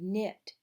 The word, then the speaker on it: knit: be active the word knit but it has K in at the beginning but the K is silent it means to use